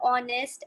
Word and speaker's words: honest: Some words like are, honest, air begin with a vowel sound as the initial consonant h is not pronounced. And are, and honest, and air.